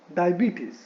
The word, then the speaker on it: diabetes: इट is actually डायबिटीज, नॉट डायबिटीज बट diabetes. So you can see, I hope you can hear the stress on the second syllable.